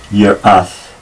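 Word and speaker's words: יראת: Notice that the Aleph here has a vowel, so I pronounce it Yirath. Yirath. A bit difficult to get those ones together, but because it has a vowel, I pronounce it with a.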